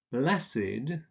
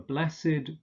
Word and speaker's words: blessed: Blessed, the Blessed Virgin Mary, for instance, gesegnet, but of course the past participle would be pronounced bless.